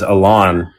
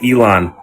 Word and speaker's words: Elon: It just reminds me like my friend of mine kept pronouncing Elon as Alain cuz I'm like, "Dude, it's Elon."